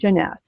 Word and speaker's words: Jeunesse: right now yes I will the company is Jeanette it is a French word for youth they're